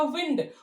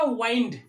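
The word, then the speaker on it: wind: ध्यान रहे इसका जो प्रोनाउंसिएशन होगा, इसका प्रोनाउंसिएशन होगा विंड और इसका होगा वाइंड।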